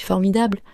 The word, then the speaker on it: formidable: Par exemple, si je dis « c'est formidable », l'accent est sur dable. Formidable. Tu entends ?